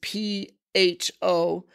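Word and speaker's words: phở: You know, it's often a word that's mispronounced because when you look at it in English, it's P-H-O, but really pho is correct, pho. So that's why somebody might say pho, you might go, huh? You know, you mean pho, but it's actually pronounced pho.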